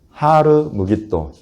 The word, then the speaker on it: 하르 무깃도: 히브리어로 하면 하르 무깃도. 하르 무깃도. 하르는 산이에요. 산, 언덕 이런 걸 말하는 것이고 무깃도. 그래서 무깃도 산 요거를 헬라어로 옮겨 놓으니까 이렇게 히읗 발음이 빠져요. 할렐루야가 그래서 헬라어로 가면 알렐루야가 돼요. 이런 것처럼 하르 무깃도가 아마겟돈이 되어버렸어요. 그래서 하르 무깃도 어디에 있어요?